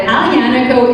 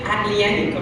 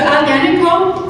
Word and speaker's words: Aglianico: they have there, but Aglianico is one of our favorite. Well, it's spelled with a G, but you don't pronounce the G. I'm telling them because most people say Aglianico, and you're saying it so well.